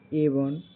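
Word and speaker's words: ebon: जैसे इ बी ओ एन का उच्चारण एवन होता है।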